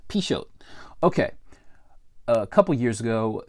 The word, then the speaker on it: Pixote: Okay, so it's spelled Pixody. That's what I thought it was, but it's actually pronounced Pixote.